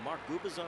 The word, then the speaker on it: Mark Gubicza: Imagine if there was just another Mark Gubicza running around. 3-2. What is that name? How do you pronounce that name? Silent C.